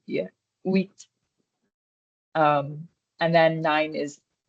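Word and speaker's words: huit: Number eight is wheat. Remember H is the silent letter. It's more like wheat.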